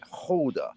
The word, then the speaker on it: Gouda: Like Gouda, if you go to Gouda and go, I'll have some Gouda, please. No, it's Holder. It's Holder because they don't have G's. We're gonna tell you there's no G's in the Netherlands.